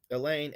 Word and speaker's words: Elaine: say elaine elaine so notice that i'm emphasizing the second syllable in the name elaine i don't say elaine right i don't say elaine i say elaine elaine so the first syllable is unstressed and the second syllable is stressed so i say that here elaine consists of an unstressed syllable followed by a stress one when you say elaine allowed the emphasis is on the second syllable so i might indicate